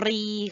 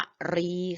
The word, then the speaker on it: กรี: สามารถ ทิ่ม ได้ เนี่ย เขา เรียก ว่า กรี ค่ะ อ่าน ว่า กรี หมาย มี หัว กุ้ง แหลม ๆ นะ คะ แต่ ถ้า พูด เรื่อง ช้าง เมื่อ ไหร่ จะ อ่าน ว่า กะ รี ค่ะ เขียน ก็ ไก่ รอ เรือ สระ อี เหมือน กัน แต่ อ่าน ไม่ เหมือน กัน นะ คะ ดู ว่า ถ้า พูด เรื่อง กุ้ง เมื่อ ไหร่ ก็ คือ อ่าน ว่า กรี ถ้า พูด เรื่อง ช้าง เมื่อ ไหร่ อ่าน ว่า กะหรี่ ทัน ที เลย นะ